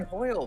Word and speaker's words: Hoyle: Yes, Hoyle is the correct pronunciation.